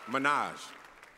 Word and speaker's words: Minaj: got Wiz Khalifa Nicki Minaj and hozier J pronounce that right great no no no you it's Minaj all right I can't do those anymore that's